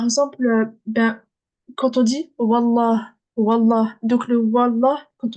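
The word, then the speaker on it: والله: Et ben, Oui, l'alif, on le prononce pas, on dit direct wa, la.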